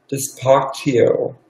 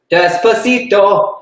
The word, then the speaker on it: Despacito: Despacio. Despacio. The song with Justin Bieber. Oh, the song that Sarah Paulson was trying to run away from in that meme. Despacito. But Despacito.